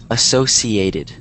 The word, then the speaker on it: associated: you pronounce it, but this word is pronounced associated. So it's kind of like... I said associated. Oh, okay, there you go. Yeah, so it's associated, not the sh.